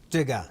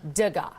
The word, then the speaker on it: Degas: is exciting we're all trying to get the name pronounced correctly but it's Edgar digga digga yes well I mean this